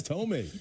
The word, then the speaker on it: Thome: I doubt you ever listened to the audio, but we wanted to make sure we pronounced it correctly. Jackson, Jim Thome. No, it's Thome.